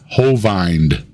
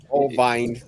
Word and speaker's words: Hovind: Like he used a long I sound for Hovind, and then used the E sound that I makes for Dino.